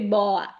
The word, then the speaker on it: boa: In italiano aperto diciamo serpente boa, ma in bergamasco diciamo serpent boa.